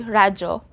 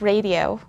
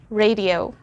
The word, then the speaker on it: radio: but they say radio in tagalog we say rajo but in english it's radio okay one more time radio i listen to radio